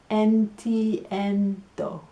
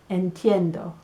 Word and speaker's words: entiendo: I understand is entiendo NTNdoh I think of the three letters because it helps con la pronunciación NTNdoh speed it up